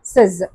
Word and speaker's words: says: அந்த ஒரு particular word மட்டும் என்ன மாதிரி ப்ரொனவுன்ஸ் பண்ணா செஸ், எஸ்இஇசட் எப்படி ப்ரொனவுன்ஸ் பண்ணுவோமோ அது மாதிரி செஸ் அப்படின்னு ப்ரொனவுன்ஸ் பண்ணணும்.